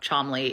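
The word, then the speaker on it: Cholmondeley: Hanbury everything to know about the Martians of chomley I promise you that's how chamley is pronounced I I know it's it's nonsensical but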